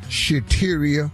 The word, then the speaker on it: Shateria: Shateria, that rhymes with cafeteria.